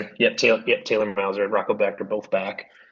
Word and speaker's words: Becht: So Rocco Beck is how you pronounce it? Becht, yeah, his dad was Okay, Anthony Becht, who played tight end for the Rams.